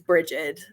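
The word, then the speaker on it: Brigid: goddess breed um or there's several peninsula pronunciations for that name technically that one should be one of the closer to proper ones but for those that don't know it's it's bridgette a lot of people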